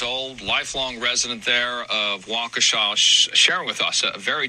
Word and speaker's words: Waukesha: Hashtag Waukesha. Or Waukesha, sorry. It's a name I haven't pronounced much.